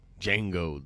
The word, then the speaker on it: Django: wars that's for sure django the d is silent his part in the